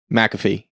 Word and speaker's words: McAfee: of mcafee antivirus yeah which i think shane is saying it right and everyone else has been saying it well not everyone that's how john says it yeah mcafee yes he says it like there's an extra because it's m c